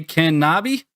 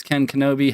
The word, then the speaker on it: KenKnobi: honored guest Nate AKA Ken knobby I have been guilty in previous streams of mispronouncing your name as Ken Kenobi how often does that